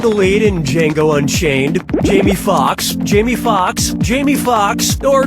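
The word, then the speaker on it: Jamie Foxx: lead in Jango Unchained Jamie Fox Jamie Fox Jamie Fox or Jamie Fox Jamie Fox's last name has two x's in it the first x is silent brace yourself for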